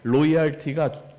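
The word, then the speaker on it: loyalty: 영어로 하면 뭐냐면 로얄티입니다 로얄티 뭐 왕궁 그런게 아니라 l자 발음으로 로얄티가 그 의리인데 그거를 한글로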